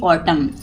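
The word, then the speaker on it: autumn: इट is celebrated every ऑटम यानी कि प होता है यहां पे एन साइलेंट रहता है जैसे एम के बाद अगर एन हो तो हमेशा N silent raw between October and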